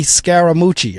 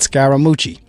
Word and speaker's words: Scaramucci: nonsense anymore so now Donald appoints this Anthony scaramucci I guess that's how that looks like how you say it I'm almost sure that's how you say it scaramucci s c a r a m u CCI